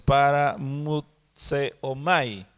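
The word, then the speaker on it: παραμυθέομαι: No mastico mucho bien el griego, pero es paramutseomai. ¿Perdón? Para, luego mut con D de dedo, mut, seomai, con acento en la E, seomai.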